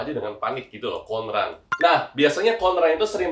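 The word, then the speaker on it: 混乱: Cara bacanya itu adalah konran ya.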